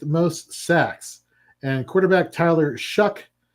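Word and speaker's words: Shough: And quarterback Tyler Shuck, although I want to call him Tyler Show, I get it. It's old English, but I don't care. I do not like the spelling.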